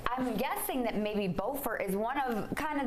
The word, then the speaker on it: Beaufort: They're spelled the same and pronounced differently. So what can you say? I'm guessing that maybe Beaufort is one of kind of the other characters in this latest novel.